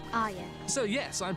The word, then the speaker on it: Arya: her name is, and she says, Arya. so yes, I'm pronouncing it right, shut up.